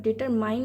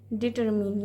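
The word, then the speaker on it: determine: में कहते हैं डिटरमिन डिटरमिन इसको डिटरमाइंड नहीं कहेगे इसको कहेंगे डिटरमिन यानी कि निर्धारण करना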